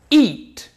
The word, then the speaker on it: eat: E então fica e porque se fosse eat seria igual o verbo comer eat esse sim tem um som verdadeiro do I eat eat repeat it repeat